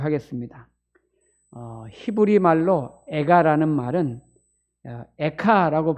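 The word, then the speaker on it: איכה: 히브리 말로 에가라는 말은 에카라고 발음을 하는데 우리나라 말이랑 발음이 비슷하죠.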